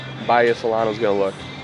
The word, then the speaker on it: Bahia: We realized we were mispronouncing it. We were saying Bahia. It's Bahia Solano.